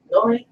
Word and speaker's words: Noire: Noire?